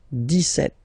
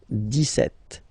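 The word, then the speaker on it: dix-sept: then for the pronunciation deset Okay so not insist on the S deset deset deset okay then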